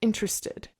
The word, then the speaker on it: interested: Can you please say the word interested? Okay. Yeah. No, this is this is hard. So, I would say interested. Interested. Interested. Instead of interested. Interested. Interested. Interested. Like three syllables.